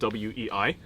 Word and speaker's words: Wei: in Weilong is spelled WEI, and it could have a variety of tones. Like right now, it's supposed to be pronounced Wei, like with like a flat Wei sort of sound, which means like powerful and strong.